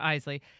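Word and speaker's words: Eisele: Isley, whose name I mispronounced earlier, but Isley.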